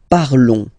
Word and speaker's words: parlons: Nous parlons, okay? Remember, final S is not pronounced, okay? And then this O and together, they will give you the sound on, on, okay?